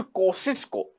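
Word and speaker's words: Kosciuszko: तो यहां पे माउंट कोशिश को मैं उसको लिखना चाहूंगा माउंट कोशिश को ऐसे लिख सकते हैं अपन स्पेलिंग थोड़ा सा अटपटा है के ओ एस सी हा आई स एस के ओ ऐसे करके माउंट कोशिश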